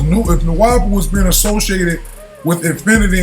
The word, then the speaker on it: Nuwaupu: "Nuwaupu is pronounced Nuwaupu, not Nuwabu."